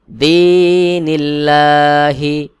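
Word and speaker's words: دين الله: জবর লাম হাজের হি এখানে ছিল আল্লাহ শব্দের আগের হরফে পেশ আর এখানে দেখুন আল্লাহ শব্দের আগের হরফে জের রয়েছে এখানে পাতলা বা বারিক করে পড়তে হবে যেমন ফিনিল্লাহি দ্বীনিল্লাহি হামজা ফা জবর আফ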